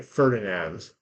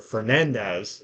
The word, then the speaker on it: Fernandez: the sea cover by ferdinands or Fernandez is the better way to say that that's probably the correct way to say it so now we're going